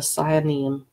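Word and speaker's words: sayanim: group of people called the side neum I think that's the pronunciation sign them s a why a and I M and the signing are the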